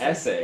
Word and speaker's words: Esse: Essay are even better, I think. The Essays maybe Essay? better. Essay made in Britain. How do you Most the spell that? Essays SESSE. Like Yo Essay, but they they I